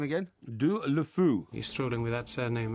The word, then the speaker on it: Deulofeu: Deulofeu.